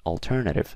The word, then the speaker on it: alternative: the word alternative right alternative where do you guys think the stress is well the stress is on the ter here right so alternative right the